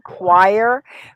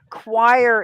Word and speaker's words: choir: you heard that one choir choir is like it sounds like a kw i i see a y